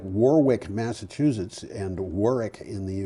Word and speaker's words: Warwick: It's like Warwick, Massachusetts, and Warwick in the UK. And if you say Warwick, they laugh at you. Well, it's not quite Warwick. It's Warwick.